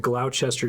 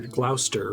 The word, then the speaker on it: Gloucester: as bad as french skip a bunch of the letters sometimes the thing that looks like glow chester is pronounced like glouchester or gloucester right anyway uh the